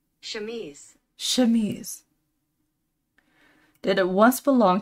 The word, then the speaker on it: Chemise: Chemise? Chemise.